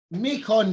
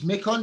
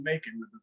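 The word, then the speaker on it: Macon: Joy is talking from Nikon Georgia it's mecon Georgia isn't it Joey we call it making with our Southern Accents but that's close enough that's right so it's like making the rhyme with bacon yeah Joy I'm gonna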